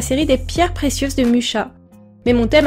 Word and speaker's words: Mucha: désamorcer tout de suite je sais que c'est censé se prononcer Moura mais je ne fais pas désolé du coup pour